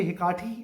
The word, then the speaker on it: Hecate: अब यहाँ पे ये हिकाटी वर्ड जो है, इसकी प्रोनाउंसिएशंस काफ़ी सारी आपको मिलेंगी. हो सकता है कि कोई लोग इसको हैकेट भी प्रोनाउंस करते हैं, हैकेट, और कुछ लोग इसको हिकाटी प्रोनाउंस करते हैं, कुछ लोग हैकेटी प्रोनाउंस करते हैं.